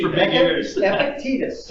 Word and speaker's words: Epictetus: Epictetus. Epictetus. Yeah. It's epic and it's not tedious.